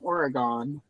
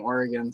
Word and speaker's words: Oregon: Wow, we've got a card all the way from Oregon. That's how people not from Oregon say it. Like it's a Jedi in the prequels.